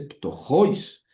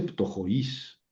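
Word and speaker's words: πτωχοῖς: siempre que hay tongo, el acento se pronuncia sobre la vocal fuerte, no sobre la débil, aunque se pinta sobre la débil, o sea, dice tojois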